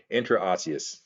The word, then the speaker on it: intraosseous: the word yeah okay intraosseous is how you say it that's a weird word